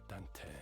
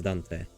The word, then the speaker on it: Dante: gestures vargel stepped in Dante call yourself Dante does she always say Dante like you can just pronounce my name normally you don't need to drag the E it's not right to